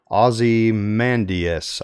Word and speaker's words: Ozymandias: Afterwards, he worked on titles like Before Watchmen, Ozymandias, I think is the way it's pronounced, and Batman Superman for DC Comics.